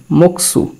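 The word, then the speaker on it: 목수: মোক এরকম হলো মোক নিচে গিয়ক যাওয়াতে সে ক উচ্চারণ দিল এরপরে শিউত স উচ্চারণ হবে নিচে দিলাম উ কি হলো মকসু মকসু অর্থ কাঠমিস্ত্রি তো মকসুর উচ্চারণ এখানে মোমের উচ্চারণটা কোরিয়ান করে বর মতো বকসু বকসু অর্থ কাঠমিস্ত্রি নিউন নিউনের উচ্চারণ ন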